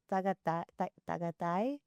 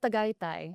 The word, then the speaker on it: Tagaytay: I think it was like, I was trying to say, how do you say, I think it was like tagatay. At Tagaytay. There you go.